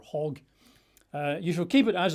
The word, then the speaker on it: chag: C-H-A-G, it looks like chag, but I think they would pronounce it more like hag or hog.